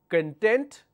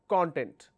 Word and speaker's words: content: So is it content or content? The answer is very simple, because when you shift the sound, the meaning changes. When you say content, content means being happy.